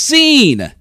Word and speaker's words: zine: here and welcome to another episode of It's pronounced scene the series where I take a deep dive